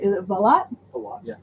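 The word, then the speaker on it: Valotte: Julian Lennon's, I never say it right, is it Valot? A lot, yeah. Valot, thank you, $19.99.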